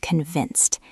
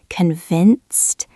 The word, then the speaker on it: convinced: Let's practice the pronunciation of convinced. It has that v sound in the middle. Convinced. The ed at the end sounds like a t.